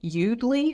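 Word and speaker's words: Yoodli: to check out is called udle which is spelled y o o DL I and udle is for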